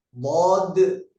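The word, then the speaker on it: ض: Tempat keluarnya huruf bod ini ada di tepi lidah ya. Tepi lidah dengan geraham atas, kiri atau kanan.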